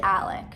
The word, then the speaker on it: Alex: rodeo his name is alec in my defense it is spelled alex but for whatever reason this sick and twisted